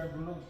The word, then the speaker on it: balut: And a friend of mine, he was like, "Hey, won't you try Balut?" And I was drunk. Like, come on, let me. It's pronounced balut.